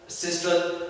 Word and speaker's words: systole: ये वर्ड जो है डायस्टल, सिस्टल, इसे हम डायस्टोल भी कहते हैं और सिस्टोल भी कहते हैं।